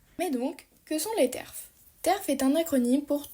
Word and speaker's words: TERF: peut retrouver la présence des T RFS prononcé terf ou encore des féministe